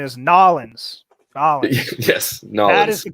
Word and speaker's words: New Orleans: the end of the tour actually the correct pronunciation is nollens yes no that is the correct pronunciation it